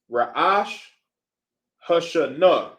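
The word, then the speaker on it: Rosh Hashanah: The proper way to say New Year is Ra'ash Hashanah.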